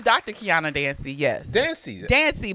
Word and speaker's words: Dancie: Dancie, but you said dancer.